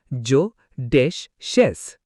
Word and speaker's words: judicious: Vocabulary 18, judicious. Pronunciation, jo-dish-us.